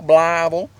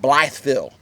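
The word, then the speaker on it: Blytheville: Bal Arkansas blav um a lot of people call it bville B with a th because it is spelled with a th but it's more like blav everybody says blav it's blav blav Arkansas um we went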